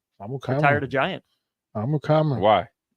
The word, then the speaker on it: Amukamara: Prince, not Amukamara, but Amukamara. Amukamara. Did I say it right? Amukamara.